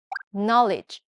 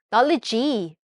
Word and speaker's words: knowledge: 그리고 G 발음은 문 단어 끝에도 되게 많이 들어가는데 또 많이 쓰는 단어 중에 knowledge, knowledge가 있죠. knowledge 아니고 knowledge, knowledge, 입니다. 약간 이건 J 발음이랑 비슷한데요.